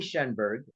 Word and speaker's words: Shenberg: it's still tripping my tongue here um shenberg um um It's s h e n is